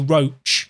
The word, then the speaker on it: Roche: I was going to say even Roche's given one, but I've been told that Martin's name is actually Roche. It's pronounced Roche, everyone. Roche sounds more fancy.